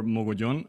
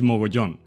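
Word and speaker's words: Mogollón: Yes, my name is Mogollon, or Mogollon, as I will pronounce it in my native Spanish language. Not from Spain, though. I'm from South America, in Colombia. But yeah, it is Mogollon.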